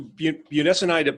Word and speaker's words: budesonide: Wilson regarding what about the steroid, I cannot pronounce this. It's on the screen. Okay. Budesonide?